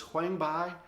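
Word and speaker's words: huang bai: that through two very unique herbs they're actually pronounced as huangbai and kong zhu i know kind of odd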